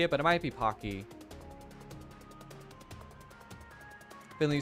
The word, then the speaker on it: Pocky: tiny URL alternative yes it's Pocky where the O is pronounced like in clock okay thank you Alicia